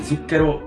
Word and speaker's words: zucchero: Z, like in zucchero and mezzo.